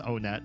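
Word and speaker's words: Onett: It is pronounced on net.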